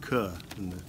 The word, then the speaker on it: care: With cur, pronounced in the Liverpool fashion.